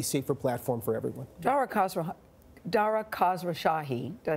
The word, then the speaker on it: Khosrowshahi: Dara Khosrowshahi, did I say it right?